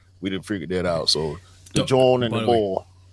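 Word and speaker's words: jawn: For those of y'all don't know, John is what they say in Philly. It's like um it's an alternate dialect pronunciation of joint.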